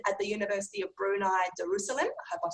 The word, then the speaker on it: Darussalam: And then he left Singapore in 2007, and until now, he's been at the University of Brunei Darussalam. I hope I've said that okay. Probably not. Darussalam?